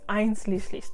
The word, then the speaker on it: einschließlich: My pronunciation, I'm still working on it, but it's einschließlich, which means including.